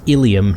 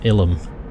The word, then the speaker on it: Illium: It's Illiam, not Ilum.